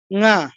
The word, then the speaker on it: ঙ: উঁ, বাংলায় বলি উঁ, উঁ নয়, ঙা।